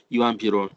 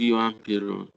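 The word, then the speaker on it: Juan Perón: Once again, the yeah sound in here. It's not just sound, it's yeah sound. Yuan Piron. The policies of Yuan Piron.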